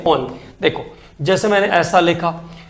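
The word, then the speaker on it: -one: ओन, ONE से spell करेंगे, लेकिन उसका प्रोनाउंसिएशन करेंगे ओन।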